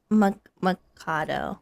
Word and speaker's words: Machado: I'm gonna go with Ian Mikado.